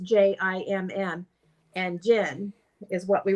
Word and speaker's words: Djinn: and it came back and it said Djinn, and we put in there pronounced Jimm, and Djinn is what we wrote down off to the side.